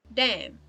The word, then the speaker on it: damn: to each other like damn in the sense of like damn it not double m damn it like damn space it um god damn it's d-a-m-n but we do not pronounce um as a cluster